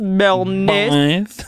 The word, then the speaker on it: Béarnaise: I'm addicted to the one that is it's salmon, asparagus, and how do you pronounce it? Béarnaise sauce? Béarnaise.